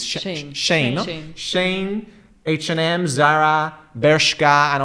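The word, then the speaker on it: Shein: Big names in fast fashion are companies like Shine. No, how do you pronounce this? Shane.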